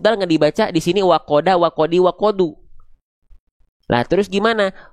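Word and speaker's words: وَقَدْ: Maka huruf dalnya dibaca cukup wakod.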